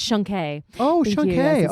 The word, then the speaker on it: Shunk: also, just so you know, my last name is pronounced Shunke.